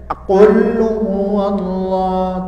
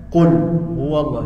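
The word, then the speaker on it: قل هو الله: nah Perhatikan cara membacanya Jangan dibaca quluallah tapi qulhuallah nah kemudian pada huruf lam pada huruf lam jangan terputus jangan Qul huallah tapi qulhuwallahu Ahad coba sama-sama qulhuwallahu ahad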